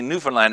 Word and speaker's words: Newfoundland: A lot of people say Newfoundland, and it's kind of how it's spelled. But that's not how they say it. They say Newfoundland.